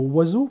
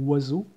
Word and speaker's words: oiseau: la langue des oiseaux, il est constitué, ce mot, de cinq voyelles dont aucune se prononce. C'est-à-dire, O et I font wa et E, A, U font O.